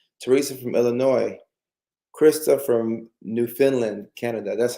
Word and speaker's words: Newfoundland: Krista from Newfoundland, Canada.